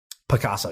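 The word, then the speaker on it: Pacaso: Is that how it's spelled? Picasso.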